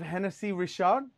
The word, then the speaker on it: Hennessy Richard: And they left us a bottle of Hennessy Richard, you know, is that how it's pronounced?